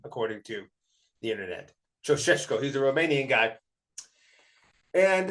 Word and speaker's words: Ceaușescu: This is allegedly how you pronounce this name, according to the internet. Ceaușescu.